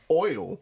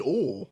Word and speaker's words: oil: How do you say O I L O I oil oil oil you're saying all.